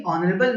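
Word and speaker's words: honourable: तो आपको पता, देखिए ऑनरेबल में एच साइलेंट है। अगर हम इसका उर्दू तलफ़ुज़ देखें तो ये अलिफ से लिखा जाएगा ऑनरेबल। तो ऐसी सूरत में इसके साथ ए नहीं बल्कि एन इस्तेमाल किया जाएगा।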